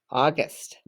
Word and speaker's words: August: let's look at this the a u makes a sound of ah that's actually a short o sound ah gust you hear the gu the g sound a short u s you have s t ah gust august all right now let's trace